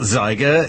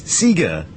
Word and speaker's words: Sieger: It's like, it's not Zyger, it's Sieger.